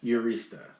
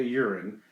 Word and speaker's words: Urista: Her name is Sophia Urista. Not Sophia Urine. It's very close. It's spelled Urista.